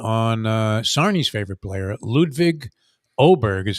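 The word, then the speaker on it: Åberg: I'm tempted to take 25-1 on Sarni's favorite player, Ludwig Oberg is how you say his name. It's spelled Aberg, Yeah. pronounced Oberg.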